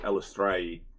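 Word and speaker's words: Eilistraee: It is Illustr who is it pronounced as? Uh according to the D uh from what from the the articles that I found the D pronounce it istrae uh it's also uh it's dry and it's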